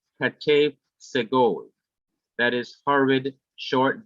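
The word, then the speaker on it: חטף: The Hebrew word katef, sometimes pronounced hatef, means hurried, and it is used to describe the half vowel sound.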